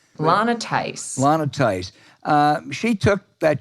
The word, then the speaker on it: Lana Theis: The state senator who put out that false, sleazy charge, is it Lena Theis? Am I pronouncing it correctly? Lana Theis.